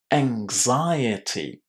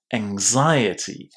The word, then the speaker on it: anxiety: Anxiety. Remember that we pronounce the letter X as X here with G and Z, angs, and then you pronounce the I as, again, you've guessed it, an I. Anxiety.